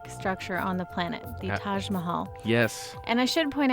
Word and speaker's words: Taj Mahal: was practicing and um apparently it's more like Taj mahel oh but I guess